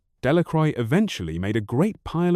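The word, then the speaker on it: Delacroix: Bobby and Harry Jones and Dicky Delich villagers pronounced this name. Delicroy eventually made a great pile of stones in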